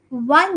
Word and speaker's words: one: ऐसा इसलिए नहीं है क्योंकि यहाँ पे प्रोनाउंसिएशन में वन जो है वो जैसे डब्ल्यू, लगभग लगभग डब्ल्यू जैसा प्रोनाउंसिएशन है वन, है ना।